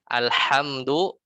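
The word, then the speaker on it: الحمد: Alhamdu kita baca haknya besar ya, haknya jadi besar. Alhamdu maknanya segala segala, semoga Allah celaka. Alhamdulillah, segala kecelakaan atau kemudorotan lillah, bagi Allah. Kan maknanya bisa kufur ya. Seorang bisa kufur kalau kita salah baca al-ha dengan hak kecil diganti jadi hak besar.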